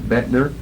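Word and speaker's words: Boettner: uh Lorraine Bettner b-o-e-t-p-p-n-e-r you pronounce that vetner there was a farm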